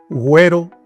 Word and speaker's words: güero: Cuando lleva diéresis la U, ya se pronuncia. Se pronuncia ante E y ante I, después de G. Güero.